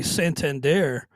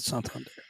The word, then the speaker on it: Santander: We had a question in the chat from Roxana about Anthony Santander, I believe it's pronounced, and I think there is still plenty of reason to be optimistic.